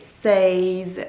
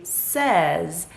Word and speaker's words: says: corrected me she said honey you don't say says you say says that is the proper way to pronounce this word and it just hit me